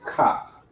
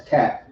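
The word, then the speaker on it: כף: The Hebrew word is kap. Kap. Some people may pronounce it as cap. It's kap. Kap. All right. Kap. Right. Sounds like a police officer, a cop, but it's kap.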